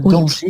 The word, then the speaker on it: danger: Un danger sans prononcer le R.